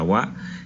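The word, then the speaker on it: は: Ese wa, esta letra que decimos que es la partícula wa, en realidad es la letra ha de la familia ha de hiragana.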